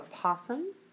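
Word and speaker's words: opossum: now next we have a posum and yes it is spelled with an O Okay AUM and when it becomes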